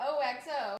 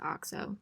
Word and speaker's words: OXO: the brand i have oh xo guys my mom informed me after this that it's actually pronounced oxo she's pretty cute